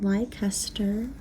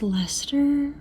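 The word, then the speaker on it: Leicester: I think uh and it looks like it could be pronounced liester or liester well that doesn't make sense but like Hester but no I just looked it up and apparently it's ler I'm not mad at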